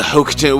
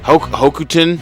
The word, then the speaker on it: Hokuten: The bales of the Hokuten. Well, how do you how do you say Huten? Hokuten. Hokuten.